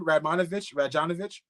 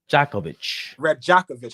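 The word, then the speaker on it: Rajaković: Radjanovich. Darko Radjakovic.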